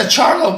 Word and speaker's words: Charlo: I can never pronounce their name. The Charlo brother. Charlo.